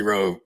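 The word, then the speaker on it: WROE: And we all live on fantasy row. Come on. W R O E. Yes. My mama. The W is silent.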